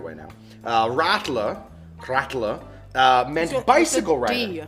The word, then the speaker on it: Radler: Radler meant bicycle rider. Radler.